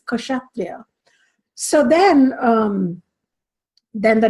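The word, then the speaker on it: Kshatriya: there is a k there and it is pronounced it's not a sleeping case it's katria so then um then the next verse is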